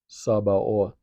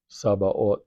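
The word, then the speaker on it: Sabaoth: Um, another of his names is Yahweh Sabah. Yahweh Sabah. And that's spelled S A B A O T H.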